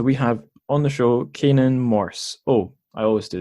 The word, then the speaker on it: Canaan: have on the show Kanan Morse oh I always do this is that a correct pronunciation of your name that is the correct pronunciation yes I was pretty sure